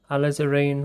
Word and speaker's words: alizarin: like a crimson red alizarin red that's the way we pronounce it a lizareen red oh look i'm